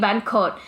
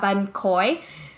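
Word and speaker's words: bánh khoái: that I always mispronounce, because people hear me and they're like, oh, you mean ban kot? And I'm like, no, not ban kot from Vung Tau. I'm talking about ban khoi, which is like a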